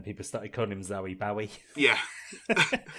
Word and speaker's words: Bowie: the girls you know people don't know how to pronounce his surname is it Barry or Bowie right I said Bowie Bowie it is Bowie because he was on